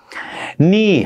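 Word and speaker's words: knee: ني حرف الكي ما بلفظه، ني ركبة.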